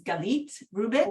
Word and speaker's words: Galit Rubin: That's why my name is Galit Rubin. That's how it's pronounced.